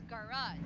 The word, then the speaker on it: garage: this word garage only has two Shirt. syllables. So what should be the correct answer? Uh, quit. Can you try? What do you think? Um, try to One. correct it. Okay. There. Yes, that is correct. So it's the first syllable is ga Two syllable. and the second Jacket. syllable is raj.